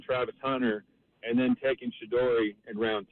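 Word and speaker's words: Shedeur: I think you're saying Shador Sanders' name wrong. Hope you find your dad. Thanks for Shadori Sanders. Shador. There's no Y at the end of it.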